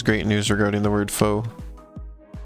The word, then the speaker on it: faux: Chroma has great news regarding the word faux. It's gonna be that it's French, isn't it? I mean, AUX being pronounced like O, I think, is a very French way to pronounce it.